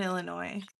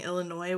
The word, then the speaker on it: Illinois: was very big on pronouncing Illinois without the S.